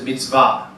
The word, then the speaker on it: mitzvah: So in the Hebrew, the original term is mitzvah, emphasis on the last syllable.